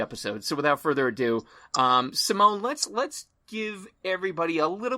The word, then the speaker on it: Simonne: My name is pronounced Simonne.